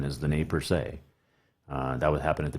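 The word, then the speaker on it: Nez Perce: bunch of nate per se also known as nes purse but the correct pronunciation is the name per se that would happen at the big hole all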